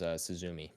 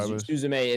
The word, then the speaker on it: Suzume: you walked away was Suzumi, which did you get to Suzume? I saw it in theaters. Oh, great. Yeah. Suzume is the better pronunciation, so I should probably be saying that.